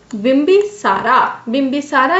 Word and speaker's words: बिम्बिसार: बिम्बिसारा या बिम्बिसार, आप दोनों कुछ बोल सकते हैं, अलग अलग जगह अलग अलग प्रोनाउंसिएशन बताया गया है।